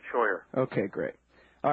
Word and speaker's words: Scheuer: Sawyer thank you very kindly sir it's very kind of you to have me am i pronouncing your name correctly exactly right Sawyer okay great all right